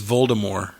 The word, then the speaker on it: Voldemort: the day that JK rling said the correct pronunciation Voldemort is Voldemort yeah mhm mind blown how do you make